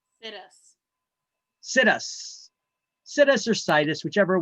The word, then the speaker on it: situs: It's pronounced situs. I call it situs because once you find that perfect location that you want, you decide we're going to sit us right here.